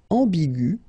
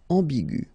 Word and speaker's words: ambigu: Another example is ambigu, and it will become ambigu. Okay, so you don't modify the way to pronounce them.